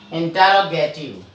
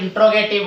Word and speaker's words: interrogative: तो आगे हम चलेंगे बच्चों किसमें, इंटरोगेटिव, INTERROGATIVE। बच्चों कई बार बच्चे क्या होते हैं इंट्रोगेटिव बोलते हैं।